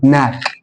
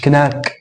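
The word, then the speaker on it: knock: هنا الكي جه بعده ان فما انطقش الكي فاقول ناك، مش كناك، ناك ناك.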